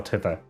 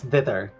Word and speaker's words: thither: Oh, yes, there is a map for Tither. And it's spelled Tither? Thither. Yeah, that's thither. Oh, it is thither.